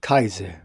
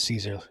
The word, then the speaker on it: Caesar: It's Julius Kaiser, actually. I don't know why he said Caesar. It's no Caesar.